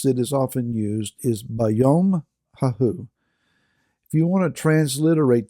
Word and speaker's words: B'yom haHu: a Hebrew phrase that is often used is bayom Hao if you want to transliterate that you could spell it capital B apostrophe y m bom Hao